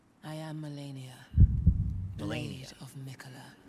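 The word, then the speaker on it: Miquella: am melania blade of mickeleh oh it's mykolo i didn't even know like nichola blight i didn't even notice how you say it melania and michela i've said it wrong the whole game no one corrected me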